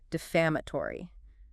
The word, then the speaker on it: defamatory: Okay, next academic professional word, defamatory. D-E-F-A-M-A-T-O-R-Y. Defamatory. Wow. 5 syllables. Stress on the second one.